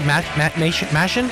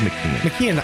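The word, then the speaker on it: Machen: And I was like, I think I said Mashin. I'm going with McKeon.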